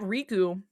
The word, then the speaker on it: Riku: So, um, and like in Japanese, they have like a slightly different pronunciation. Like the emphasis is a little different, but like to the English- speakaking audience, RKU is Riku. It's not It's not different.